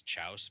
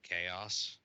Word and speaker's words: chaos: She was like reading something out loud, and she pronounced chaos as chouse because she didn't realize that was the word chaos.